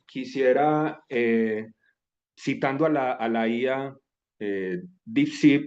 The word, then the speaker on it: DeepSeek: Entonces, para comenzar, quisiera, citando a la IA DeepSeek o DeepSeek, pronunciado en español, pero que es esta IA china que está mucho más completa que lo que ofrece el ChatGPT.